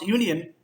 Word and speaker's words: union: When you pronounce union, that sounds like Y-O-U, I mean to say. And that makes it a semi-vowel. As it is a semi-vowel,